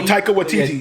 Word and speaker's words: Taika Waititi: Oh, Taika Waititi. Yeah, that guy. Taika Waititi, yeah.